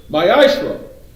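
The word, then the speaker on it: מעשר: it means 10th in hebrew it is pronounced maishra one tenth of every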